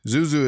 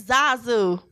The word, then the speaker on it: Zazu: Zuzu is gonna be You don't even know how to pronounce these folks' names, right? It's Zazu.